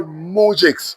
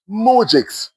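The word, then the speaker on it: moujiks: He saw they were all mujix, simple peasants. Well, you you you know there's a new word for you to learn. Mujix. It is spelled M O U J I K S.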